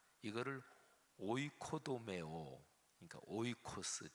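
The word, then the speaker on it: οἶκος: 설명을 좀 들여야 됩니다 집 이거를 오이코스 라고 발음합니다 우리가 사는 지 이거를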